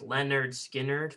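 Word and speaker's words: Lynyrd Skynyrd: Street by Rolling Stones pronounced Leonard Skinner by Leonard Skynyrd Bongo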